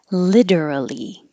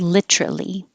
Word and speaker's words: literally: You can say that with 4 syllables, literally. Or you will hear people with 3 syllables, literally. Both are fine.